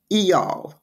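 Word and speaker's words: Eyal: called hooked and it's the author is near eall very H odd name but that is supposedly the pronunciation it's n i pronounced near and last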